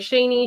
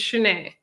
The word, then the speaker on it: Chenet: because I I know people say my name wrong all the time. They're like Sheni, Shaunie, Sheni. It's Chenet.